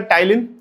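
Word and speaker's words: ptyalin: इसका दूसरा नाम होता है टाइलीन। स्पेलिंग है पी टी वाई एल आई एन टाइलीन।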